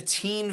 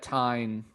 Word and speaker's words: Teign: Like so it's I live near the Teen Valley, Teign, Teen Valley, by Teen Village. I would have pronounced that Tyne.